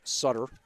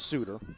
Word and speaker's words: Sutter: No, it is Suter. Pronounced Suter. All right. Spelled Sutter, but it's pronounced Suter.